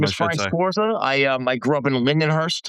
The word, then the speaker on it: Sforza: My name is Frank Sforza.